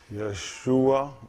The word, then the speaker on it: Yeshua: salvation that's the shortage yeshua yahushua yeshua is how you pronounce this one on he will save